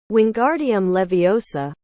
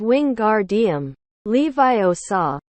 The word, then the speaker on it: Wingardium Leviosa: arms like a windmill you're saying it wrong Harry heard her Mayan snap it's Wing garam Levi OA make the gar nice and long you do it then